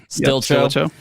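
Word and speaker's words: Stilicho: please pronounce Stilcho. Stilcho.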